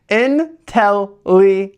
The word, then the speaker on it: Inteleon: Inteleon.